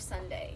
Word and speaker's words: Sondae: I listen to a lot of Sunday. I don't know What if is you've heard of it. It's his. It's an artist, but it's spelled Sondae.